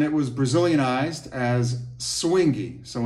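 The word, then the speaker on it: suingue: was Brazilian ised as swingy so in Brazilian Portuguese they say swingy often spelled s UI n gu sometimes it's just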